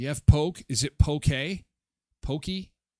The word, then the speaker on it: poke: It's Oh, it's pronounced pokey.